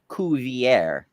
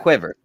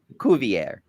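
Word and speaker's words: Cuvier: Um, it the naturalist's name was pronounced Kuier, not quiver. Kovier.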